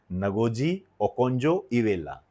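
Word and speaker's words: Ngozi Okonjo-Iweala: यह जो नगोजी ओकोजी और नगोजी ओकजो इवेला नाम प्रोनाउंसिएशन आप देखना भाई इसका नगोजी ओकजो इवेला यह मोस्ट टू मोस्ट इंपोर्टेंट है।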